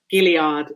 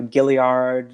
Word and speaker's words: Gilliard: you can find gilliard it's pronounced billiard which is it french french pronunciation it is it's it's yeah it's a french pronunciation um i i swear